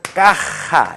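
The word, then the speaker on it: caja: 허벤, 까, 따, 빠에서 까하, 이렇게 되겠죠. 까하, 히읗 발음을 강하게 한다.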